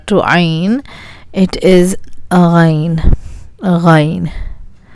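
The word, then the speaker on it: غین: Ghain. This is a difficult letter, I suppose, because there is no alternate letter in English. This sound is very common in French, as if you're gargling.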